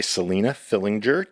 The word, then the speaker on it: Selina Fillinger: to be performing PUS that was written by Selena Fillinger. Did I pronounce that correctly?